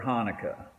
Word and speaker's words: Chanukah: with the letter c but the letter c isn't pronounced in either word why would i do